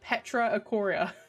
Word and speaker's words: PetraIchoria: I am here to inform you that it is pronounced PetraIchoria. Ichiora, like Ichigo from Bleach.